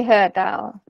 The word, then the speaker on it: HER DAO: You just say HER DAO.